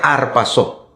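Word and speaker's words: ἁρπάζω: Arrebatamiento es un verbo, una palabra en griego, pastor, que se pronuncia arpazo.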